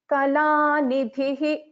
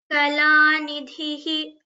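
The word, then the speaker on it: कलानिधिः: So similarly, if there is a visarga, and after visarga, the letter ka is there, then we pronounce this differently.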